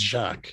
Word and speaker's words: Jacques: uh if you're wondering it's jacques if rhymes with shock okay yeah cool if